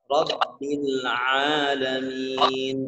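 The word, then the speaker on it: رب العالمين: Yang pertama memang pengucapan di ayat yang kedua. Rabbil alamin. Rabbil, agak sedikit menekan di pertengahan tawasud sifatnya. Sifat tawasud itu pertengahan, dia tidak terlalu keras, tidak terlalu ringan.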